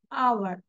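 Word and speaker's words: hour: 1 ঘন্টা অপেক্ষা করো, wait for অ্যান আওয়ার, wait for অ্যান আওয়ার। H will be silent. H আমরা উচ্চারণ করব না এখানে। আমরা বলি নাই যে হাওয়ার, হাওয়ার বলেছি।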